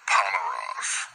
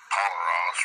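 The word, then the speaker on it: πονηρός: Now we're in John chapter 3, verse 19, and we're down to Poneros.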